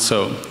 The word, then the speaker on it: Saulx: And our company is called So, which is spelled like that, but it's pronounced So. It usually goes wrong.